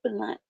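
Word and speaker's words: Blount: Lauren Hill and Tanya, I believe the correct pronunciation of her name is Blunt.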